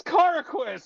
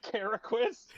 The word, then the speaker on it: Carquist: Yeah, it's Carquist, not Caracquist.